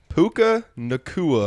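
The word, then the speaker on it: Puka Nacua: Is that how you pronounce that? Yes, Puka sir. Nakua? Puka Nakua, It's like Cooper Cup Boy was 2.0.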